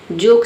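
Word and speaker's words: joke: जोक से समझते हैं। जे का ज हो गया। ओ का हो गया अ, के का हो गया क। ई साइलेंट है क्योंकि वर्ड के अंत में आया है जोक मींस मजाक।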